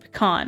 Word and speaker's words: pecan: am okay it's coming up is the you pronounce it pecan okay so you pronounce it correctly lovely um